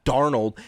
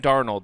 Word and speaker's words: Darnold: You guys got Sam Darnold, and then some.